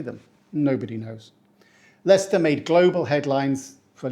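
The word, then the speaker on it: Leicester: correctly it's a classic we pronounce it Lester we don't say Lester or Lester and the trick here again is to ignore 2third of the letters why write them if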